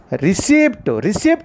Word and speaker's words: receipt: P is a silent letter. We didn't pronounce the letter P in this particular word.